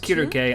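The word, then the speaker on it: Circe: Or Cersei. I know it's pronounced Kiruke.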